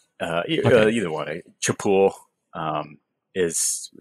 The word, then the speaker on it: Chapul: hard cha uh uh you know what a chapul um is chapul was the first company that's the food company